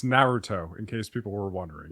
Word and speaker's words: Naruto: I don't even watch it and I know how to pronounce it. It's Naruto in case people were wondering.